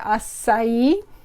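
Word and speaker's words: açaí: if you can see it's got that c with the squiggle that's called a cedilla and it makes it pronounce like a s so that's why you say acai but if you want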